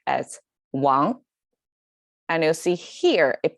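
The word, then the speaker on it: 亡: Actually the top, even if it means dad, but it's pronounced as Wang, and you'll see here it pronounced as Wang.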